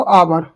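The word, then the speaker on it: hour: आवर तो एच क्या रहता है? साइलेंट रहता है। बात करता है ओ से। आवर आवर हवर नहीं बोलते इसको।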